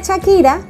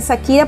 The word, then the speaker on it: Shakira: mi nombre es Shakira, pero la gente me dice Shakira porque la H es muda, claro.